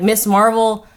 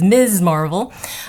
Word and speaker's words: Ms. Marvel: Like Miss Marvel... I guess, sorry, the correct pronunciation according to Lexi is Ms. Marvel.